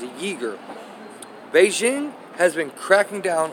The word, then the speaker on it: Uyghur: Xinjiang and a region in western China home to beleaguered Uyghur Muslim people. Uyghur, that's how it says it's pronounced, Uyghur.